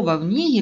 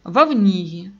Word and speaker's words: Вовниги: И даже мое родное село Вовниги, которое не все в Солонянском районе всегда правильно проговаривают, а он произносит четко «Вовниги», а не «Волнига» или «Вовниг».